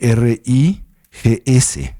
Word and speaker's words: rigs: Mientras que la palabra para cognición se escribe R-I-G-S, rigs, aunque la S es muda en la estructura gramatical tibetana, ¿sí?